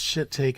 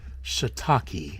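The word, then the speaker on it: shiitake: Ed well well Eddie it's not pronounced shitake it's pronounced shitaki there you go you're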